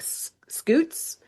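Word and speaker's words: scutes: Or more accurately, I don't know how to say this word, but it I'm going to say it like scoots. It's c or s c u t e s, which are the bony plates embedded in the skin of like alligators and crocodiles.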